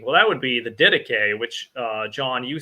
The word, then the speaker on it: Didache: It's like died ache. You know, you can type it in or whatever, post a link to it, John. But it's Greek, Didache.